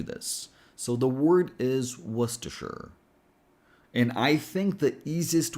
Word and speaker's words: Worcestershire: Why would you add all of these letters if you're not going to pronounce them? But anyway, let's do this. So the word is Worcestershire.